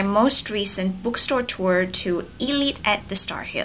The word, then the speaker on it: Eslite: been pronouncing it as sight all this time no it's actually Elite the S is silent I actually went there